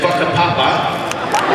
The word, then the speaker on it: Whakapapa: It was on in Maori, W-H-A is pronounced like F. So it was in Whakapapa, right?